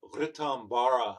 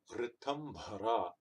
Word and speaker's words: Ritambhara: So it's not Ritambara or something like that. You don't see a bar over this A, right? You don't see a danda here. Ritambhara. That's how you say it.